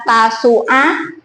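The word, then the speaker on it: Tasu'a: Tulisannya tasua tapi bacanya tasua dan asyura.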